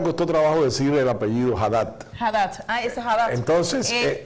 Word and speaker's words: Haddad: Na minha pronúncia, Aider. Haddad é Lula. Sí, esa es la campaña del PT. Uh-huh. Haddad es Lula.